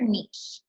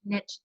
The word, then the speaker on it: niche: Find your niche. Is that how you say it? Please tell me. Niche. I say niche. That's just me. Like, I know other people say niche, but so I'm just trying to be cool like that.